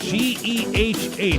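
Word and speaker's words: GEHA: That's pronounced G-E-H-A, not Gia, but G-E-H-A field at Arrowhead Stadium.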